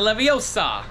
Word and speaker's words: Leviosa: over there I forget you don't know the spell it starts with the e no it's wingardia Leviosa oh it's Leviosa not Leviosa oh I'm sorry